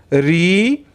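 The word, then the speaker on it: ऋ: बड़ी ऊ यानी दीर्घऊ, री। बच्चों देखो, ध्यान से सुनिए। उड़िया में इसको हम रू कहते हैं, लेकिन हिंदी में इसको हम री कहते हैं। ये उच्चारण ध्यान दीजिए।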